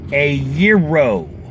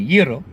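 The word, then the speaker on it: gyro: anybody from New York on the pronunciation of the food item called a euro a year row I mean it's actually euro but I'm not trying to get Americans to roll their arse because well it's hard enough trying to get them to stop over pronouncing the hard G in Euro there's no G in it sorry and there's one at the beginning but it's not pronounced it's a it's not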